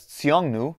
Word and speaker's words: Xiongnu: form of the name now pronounced as tseongnu may have been pronounced